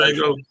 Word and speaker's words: Django: You know how the G is silent in Django?